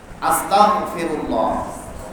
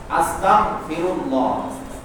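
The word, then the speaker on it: أستغفر الله: আলহামদুলিল্লাহ তাহলে কি সম্পূর্ণ অর্থ পাই যাবে না আস্তাগফিরুল্লাহ আরবিতে হলো কি গাইন এরপরে বাংলায় হলো কি গফ আস্তাগফিরুল্লাহ সবাই বলেন আস্তাগফিরুল্লাহ আস্তাগফিরুল্লাহ আস্তাগফিরুল্লাহ খবরদার আমাদের মুখ থেকে যেন কি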